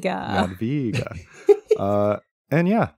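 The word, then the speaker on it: Jadwiga: W in Yad via is pronounced like a v in void which makes sense um so the the official term for people of ears are Yad VGA Yad VGA Yad VGA uh and yeah like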